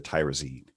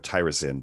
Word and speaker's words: tyrosine: Specifically deals with the iodization of the tyrosine. So, or tyrosine, depending how you want to pronounce it.